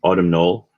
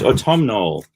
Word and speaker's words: autumnal: autumnal it was funny listening to people on the auction trying to pronounce autumnal they were saying autumn null or tomb now and i'm sitting there screaming at a computer it's autumnal one of these is